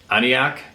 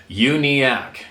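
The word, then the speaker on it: Uniacke: of his experiences at uniac that's how I pronounced it aniac uniac is pronounced unak unak house in Nova Scotia is of special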